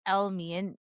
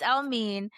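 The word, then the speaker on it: Elmiene: E L M I E N E, which it looks like Elme or I don't know how you It's so mispronounced. There's a whole video about all the mispronunciations of his name, but it's Elmine and he is a singer, British singer, born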